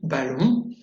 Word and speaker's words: ballon: ON, comme dans le verbe ballon, ballon, et OM, comme dans comptoir.